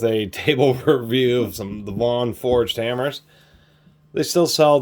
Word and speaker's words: Vaughan: I'm going to say the name wrong a million times. Vaughan, even though it's properly says is Vaughn.